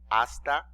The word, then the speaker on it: hasta: 2 you remember that the letter h is silent it's mute in other words it doesn't have a sound okay it's just there